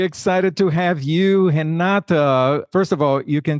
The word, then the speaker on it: Renata: We are excited to have you, Renata. First of all, you can see that I'm pronouncing— I'm making sure that I'm pronouncing her name with the Brazilian accent, because Renata is Brazilian.